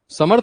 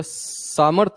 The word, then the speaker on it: समर्थ: समर्थ, तुम समर्थ प्रोनाउंसिएशन बोलते हो या सामर्थ बोलते हो? समर्थ।